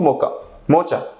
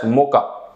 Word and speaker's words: mocha: of a coffee so i easily pronounced pronounced it because of my indian vocabulary that bring me one cup of mocha mocha then the waiter it himself corrected me the cert is pronounced as moka so this is the